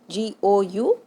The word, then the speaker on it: gourmet: GOURMET. T is silent here, so it is pronounced gourmet.